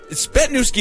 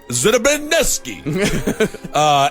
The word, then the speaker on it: Zbytniewski: Mike Ponder, Matthew Stevens, Pamela Froze, Christina Spetnewski, and now she put it in, Spetnewski is how it's pronounced, because she gave us the thing there, but it's spelled ZBYTNIEWSKI.